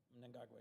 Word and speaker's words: Mnangagwa: And you always correct me on my pronunciation, so I'm going to try my best. Mnangagwa. Mnangagwa, yes. Mnangagwa, thank you, sir. Mnangagwa.